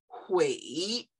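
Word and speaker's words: 悔: And when you bring heart and each together, it's pronounced hui.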